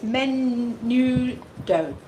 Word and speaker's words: menudo: have you busy brenda says on how to pronounce that soup it's menudo gabriel says you know